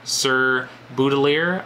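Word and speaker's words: Sir Baudelaire: First of all, we get obviously the opener was Sir Boudelier, I believe is how you pronounce it, Sir Boudelier.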